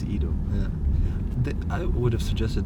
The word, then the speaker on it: Ido: of Stockholm International Film Festival yes did I pronounce it correctly totally correct okay because usually people say Idol either especially here in Sweden oh yeah yeah it's Edo yeah I would have suggested that they say Edo because Sweden but how are you how are